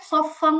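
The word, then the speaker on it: صَفًّا: সফান, সফান। এখানে হচ্ছে তানবিনের পরে সদ আসছে, সদ হচ্ছে 5 হরফের এক হরফ, গুণনা মোটা হবে।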